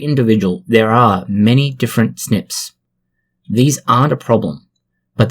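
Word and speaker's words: SNP: called single nucleotide polymorphisms the acronym is often pronounced as snip snips differ from substitution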